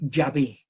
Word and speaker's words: Yahvé: y wh o Yhvh quiere decir eh eh Yahvé. Yahvé. En realidad las vocales que lleva deberían ser Yahvé.